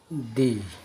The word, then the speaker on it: the: দি, দা। কনসোনেন্টের পূর্বে দা, ভাওয়ালের পূর্বে দি উচ্চারণ করতে হবে।